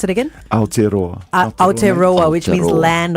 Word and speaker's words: Aotearoa: Can you pronounce it again? Aotearoa.